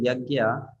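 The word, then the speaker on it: यज्ञ: that's why in Sanskrit if you want to write yagya we don't write it as y a g y a right we don't say yagya as y a g y a and how do we write English it is y a j and there's n and above n there is an till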